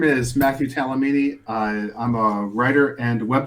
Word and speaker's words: Talamini: My name is Matthew Talamini.